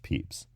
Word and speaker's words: Pepys: And, oh, by the way, Samuel Pepys is spelled Pepys, but it's pronounced Peeps, like the marshmallow candy.